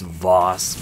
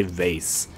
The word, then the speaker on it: Voss: cool but still though I know it's Voss but I want to say I'm just gonna say vase this might be so